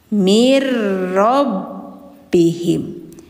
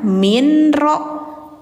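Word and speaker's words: مِنْ رَبِّهِمْ: Marro'a mirrobbihim. Mirrobbihim. Bacanya jangan minro, mirro gitu.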